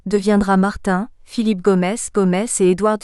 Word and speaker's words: Martin: ainsi par exemple Harold Martin a prononcé à la Britannique svp il se fâche tout rouge quand vous le prononcez à la française deviendra Martin Philippe Gomez Gomez et